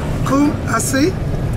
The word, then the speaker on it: Kumasi: Kumasi, or spelled K-U-M-A-S-E.